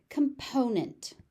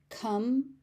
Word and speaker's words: component: Component. Component. Component. That O, you can see the O in my lips.